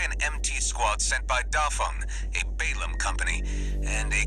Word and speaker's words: Dafeng: Is it Fong or Feng? F-E-N-G, Dafeng. Okay, Feng. Okay, that's south. They pronounce it Dafeng in the game.